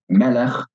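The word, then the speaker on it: מֶלֶךְ: So, melech, king, is accented at the beginning of the word.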